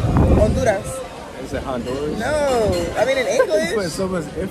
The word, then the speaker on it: Honduras: do that is it Honduras no I mean in English because that's how you say it on Ludas the H is pronounced like it's silent um so we're